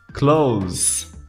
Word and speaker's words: clothes: a sua vida hoje você não vai ter que pronunciar o th quando pronunciar essa palavra basta pronunciar como se fosse o oposto de outono Então você pronuncia como close close Ok então o